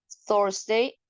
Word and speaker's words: Thursday: Mañana es jueves, jueves se dice Thursday. Thursday, como ven, tiene TH. Este sí utiliza pronunciación Z.